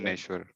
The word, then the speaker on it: ज्ञानेश्वर: ज्ञानेश्वर। यस, लेकिन अगर इसका हेयर स्प्लिटिंग है, एकदम आपको परफेक्ट प्रोनाउंसिएशन जानना है तो आपको जकार बोलना पड़ेगा, न्यकार बोलना पड़ेगा, फिर वो परफेक्ट प्रोनाउंसिएशन होगा। मतलब ये बोला जाएगा तो